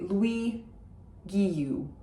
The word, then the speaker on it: Guilloux: If you have an English or American accent, I would say Louis Guilloux. That's fine, that's perfectly okay. Just don't pronounce the L's.